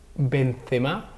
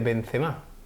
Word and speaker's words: Benzema: partidos partidos de élite Benzema no se dice Benzema se dice Benzema cuidado con eso sí por las tildes francesas el tema de la acentuación sí muchas veces estamos